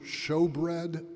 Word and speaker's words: Shewbread: Again, I ask you, some of the young people may have heard this too, but anybody heard the term showbread before? Showbread, it's spelled in English Shewbread, all right?